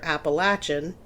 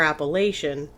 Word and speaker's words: Appalachian: Americans called the appalaches it's pronounced two different ways depending on where you live either appalachin if you're from the south or Appalachian if you're from kind